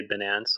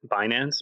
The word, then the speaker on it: Binance: room fled guilt and I've never heard anyone say bance like bday I've I've only ever heard it binance but I know we'll